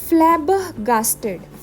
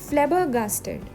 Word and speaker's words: flabbergasted: अब इस वर्ड की प्रोनाउंसिएशन देखो, फ्लैबरगास्टेड, फ्लैबरगास्टेड। यहाँ पे भी आर जो है वो साइलेंट है, हमने फ्लैबरगास्टेड नहीं बोलना है, हमने बोलना है फ्लैबरगास्टेड, फ्लैबरगास्टेड।